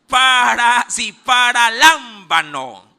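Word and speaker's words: παραλαμβάνω: Es paralámbano. ¿Lo tiene? ¿Ya lo escribió? Tal cual como se pronuncia, con B labial.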